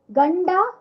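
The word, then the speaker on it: ಗಂಡ: we have discussed okay husband means गंदा नॉट गंदा एंड a wife means हैंडती नॉट हेडती हंडती सो यू कैन see that the हाउ इट इज़ a pronunciation of ऑफ़ द ड is happening it's नॉट द इट्स ड okay so आपको आप देख सकते हो जो ड का प्रोनाउंसिएशन कैसे हो रहा है गंडा एंड हैंडती सो नाउ we will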